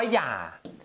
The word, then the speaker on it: อย่า: อะไร ใช้ คำ ว่า อย่า อยาก ออก เสียง ใน รุ อย่า ออก เสียง ยอ ยักษ์ ตัว เดียว อย่า มัน ไม่ ออก